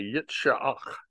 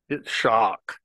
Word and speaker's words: Isaac: We say Isaac like I-Z-I-K, Isaac, in English, but if you'll know, a Hebrew person will say Yitzhak, Yitzhak, and it's actually sort of three syllables.